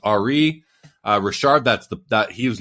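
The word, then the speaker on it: Henri Richard: big ones the biggest one being Ari Rashard Henry Rashard but pronounced Ari uh Richard that's the that he was known as the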